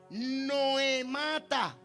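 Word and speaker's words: νοήματα: Esta palabra maquinaciones corresponde a la palabra griega que se pronuncia Noemata.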